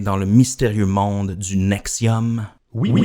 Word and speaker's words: NXIVM: york aux états unis elle s'écrit avec les chiffres romains nx10 vm et se prononce nexium elle possède également des